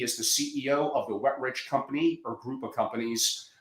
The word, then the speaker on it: Wetrich: asked, is it pronounced Wetrich? Wetrich, yeah, it's just two words put together, Angelo. It's the opposite of dry and poor. Wetrich.